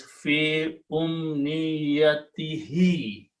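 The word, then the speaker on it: في أمنيته: for the tajweed reason, you have to recite this dhamma as a kasra also. Okay, pronouns don't change except in the case of tajweed. To make a smooth pronunciation, this he and this t and he both have the common kasra sound.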